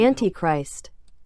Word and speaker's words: Antichrist: 그래서 발음을 한번 Antichrist, Antichrist, Antichrist. 우리는 보통 이제 안티 하는데 미국 사람들은 엔티크라이스트 이렇게 발음을 하네요.